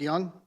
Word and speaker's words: Yonge: It's pronounced Young.